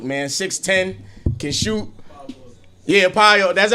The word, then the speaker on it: Paolo: Yeah, Paolo. That's how you say his name? Paolo.